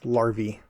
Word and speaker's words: larvae: out for these larvae i finally looked up that word because i was convinced i wasn't pronouncing it correctly apparently it's larvae we have found we've